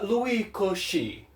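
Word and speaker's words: Cauchy: que pronuncia Luiz Coutinho francês mesmo se pronuncia Louis Koch Ah tá então desconsidera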